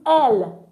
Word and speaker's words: elles: And then we use L for they as feminine. Group of women, group of ladies, group of girls we have in one location. We don't use ill for them. We use L.